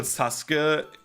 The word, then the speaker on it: Sasuke: is like, for example, Sasuke makes more sense because like you have like the U that you don't pronounce really, right?